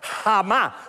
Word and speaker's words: jamás: Jamás en la vida, hacerme caso, jamás, con acento en la más.